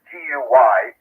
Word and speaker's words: Guy: G-U-Y. Yeah, it's spelled, I guess it's pronounced Guy because it's French.